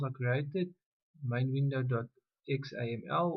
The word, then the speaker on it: XAML: created main window do xaml or pronounced as zaml as well and then a second file called main window.